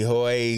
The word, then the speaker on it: Hui: or you Google me, my surname is spelled Hui. A lot of people pronounce it incorrectly, but it's pronounced Hui.